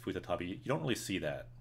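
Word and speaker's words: 再び: But that also can be pronounced futatabi.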